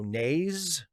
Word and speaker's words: Naz: And Steve, Naz is pronounced with a long A. Oh, so Naze?